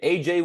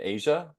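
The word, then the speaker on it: A'ja: award for the WNBA AJ Wilson uh or how do you say Asia or AJ I think it's Asia yeah I think it's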